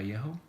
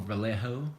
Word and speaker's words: Vallejo: from Vallejo the company by Yahoo or Vallejo as some of you guys will pronounce it and it's just to